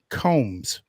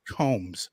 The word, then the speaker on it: Coombs: Fan Nation's COOMBS. Ignore that second O. That's exactly right. There's only, you see two O's in her last name, but you only pronounce one of them, COOMBS.